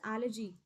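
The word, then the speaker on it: elegy: एन एलर्जी, ये algae नहीं है, ठीक है। पहले मैं आपको प्रोनाउंसिएशन सिखा दूं, इट इज not algae, it इज एलर्जी।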